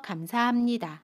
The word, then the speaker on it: 감사합니다: 도와주셔서 감사합니다. 합은 함으로 발음해요.